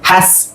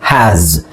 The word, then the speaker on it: has: ಇಲ್ಲಿ has, ಇಲ್ಲಿ ನಾವು ಎಸ್ ಇದೆಯಲ್ಲ, ಎಸ್ ಅನ್ನ ನಾವು ಎಸ್ ಅಂತ ಹೇಳಬಾರ್ದು, ಝೆಡ್ ಅಂತ ಹೇಳಬೇಕು. ಓಕೆ, ಉಚ್ಚಾರಣೆ has ಅಲ್ಲ, has.